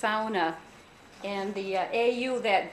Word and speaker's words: sauna: here living in rockwood but that this is pronounced sauna and the a you that diphthong actually in